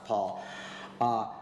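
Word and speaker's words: Pol: it's pronounced, or it's spelled P-O-L, pronounced Paul, who runs mid-38, tricks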